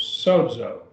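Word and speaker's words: σώζω: And now right here we have a sigma. We have 2 long O's. Sozo, 2 syllables.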